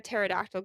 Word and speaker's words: pterodactyl: can't you hear a pterodactyl go to the bathroom why because the P is silent you should put